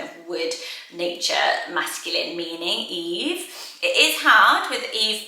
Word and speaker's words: Yves: Or Eve, spelled like this, the French way. I love the look of it, like Yves Saint Laurent.